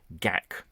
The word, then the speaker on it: Gakk: How do you pronounce my surname, Gakk? Just imagine you have a dense fur ball stuck down your throat and need to expel it with a mighty hacking cough.